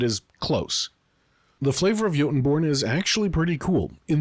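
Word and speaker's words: Jotunborn: Starting off with the one new ancestry, the Yotenborn. Yes, that J is pronounced with a Y sound.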